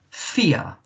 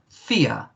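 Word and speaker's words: vier: alph deutsch in german fear that is number fear remember uh a v in german is pronounced with a f sound so fear and uh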